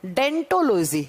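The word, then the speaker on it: odontology: डेंटोलॉजी कहा जाता है देखो ओ से लिखा जाता है लेकिन जब प्रोनाउंस करते हैं तो वो साइलेंट र जाता है और साइलेंट र जाता है और हम इसे कैसे प्रोनाउंस करते हैं डेंटोलॉजी जैसे जो टिप्स स्पेशलिस्ट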